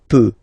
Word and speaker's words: peux: as usual, so je peux, okay? Final X not pronounced here, okay, so you get X but you don't pronounce it, so basically you get the sound peut, je peux, okay, so I can, je peux, okay.